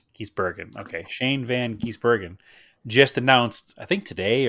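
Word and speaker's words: van Gisbergen: we didn't Shane van giesbergen he's Bergen not Ginsburg correct he's broken okay Shane Van giesbergen just announced I think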